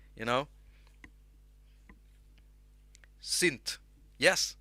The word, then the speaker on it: synth: i say you know sint yes sint without the h and if you want